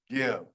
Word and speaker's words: give: you noticed this one, there's a E at the end that's silent, and the I doesn't say its own name. It's the short sound, give. Using the rule I just said, this should be the long sound, give, but it's not. It's give.